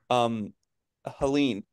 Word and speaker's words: Helene: There's an official pronunciation guide for the hurricanes, and according to Noah, it's Helene.